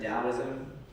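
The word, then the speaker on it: Taoism: true um number seven dosm it's pronounced with a D sound even though it has a t that's like a Japanese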